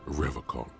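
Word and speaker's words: Revachol: He pronounces revocall with a hard K unlike other people.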